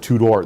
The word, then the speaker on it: Tudor: it's actually spelled out, Tudor. That's how they actually spelled it out, Tudor. Tudor. Tudor, yeah. Well, it's pronounced well, they pronounced it two-door, though, because it was a two-door car.